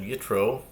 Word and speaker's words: Yitro: This is Shishi, the sixth reading of our weekly Torah portion of Yitro, or Yisro, depending on your pronunciation.